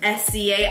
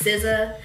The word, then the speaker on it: SZA: Babe type exotic, or SCA. I used to call her SZA. SCA. I said her name wrong again. Took me the longest time to figure out her name was not SCA, that it's SZA.